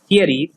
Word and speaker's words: Ceres: Please pay attention to their pronunciation. It's weird. It is Ceres, Aries, Haumea, and Makemake.